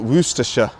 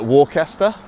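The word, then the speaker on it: Worcestershire: for the source here we just call it woroostersha. No it is like worooa. I think that is the correct way to say it. Growing up though I always used to call it warester because of the sea.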